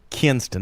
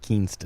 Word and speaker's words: Kinston: And that's Kinston, not Kingston.